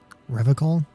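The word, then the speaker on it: Revachol: He pronounces Revocol with a hard K, unlike other people. Revocol?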